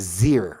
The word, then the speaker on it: xyr: commonly pronounced Z, and the XYR is Zir, okay?